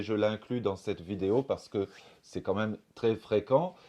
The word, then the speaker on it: parce que: par ce phénomène c'est le mot parce que qu'on prononce en principe parce que et on va prononcer parce que le R est supprimé parce que au lieu de parce que 6e chose à savoir